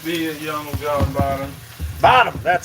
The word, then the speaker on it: Bonham: Bonham, B-O-N-H-O-M, Young John Bonham. He could be a young John Bottom Bonham, that's how you say it.